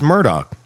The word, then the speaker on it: Murdaugh: What in the hell do we do about the pronunciation of this damn family? It's Murdoch.